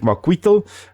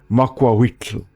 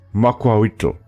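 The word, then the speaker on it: macuahuitl: this one the tick weapon now I always pronounce this as tick Marquita but it is actually pronounced tick makwaitl with the TLA in the end mobile sound than the true sound so tick mukwaito and it is from the language called which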